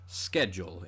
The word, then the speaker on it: schedule: And typically speaking, a lot of Greek loanwords that begin with SCH, like the word school, are pronounced sk. Schedule in this case, whereas it's words like schmaltz that came from German that get that kind of sh sound.